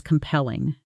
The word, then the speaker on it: compelling: You might describe an argument, a story, or a presentation as compelling. Example, her presentation wasn't just informative, it was genuinely compelling. Nobody checked their phone once. Pronunciation. Compelling. Stress on the second syllable.